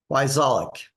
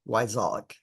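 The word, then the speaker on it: Wyczalek: Every other letter is silent. So it's W-Y, C as in cat, Z as in zebra, A-L-E-K, Wyzolek. Sounds just like it's spelled.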